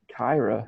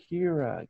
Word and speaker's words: Kira: It's well, no, they would pronounce a lot of the words the way they looked. Yeah. And you're just like, that Kyra. Who the fuck's Kyra? Oh, Kira.